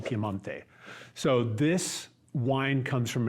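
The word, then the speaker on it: Piemonte: in a region called piante it looks like piedmont yeah okay pronunciation piemante so this wine comes from an area that's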